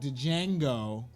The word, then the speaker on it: Django: Don't see a movie like Django. Django. The D is silent.